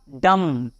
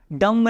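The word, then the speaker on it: dumb: है ध्यान से सुनना एम के बाद बी आ रहा है तो बी साइलेंट क्या होगा डम डम नहीं डम यानी क्या होता है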